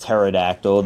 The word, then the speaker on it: pterodactyl: Is this a pterodactyl? I know it's pronounced pterodactyl. The P is silent.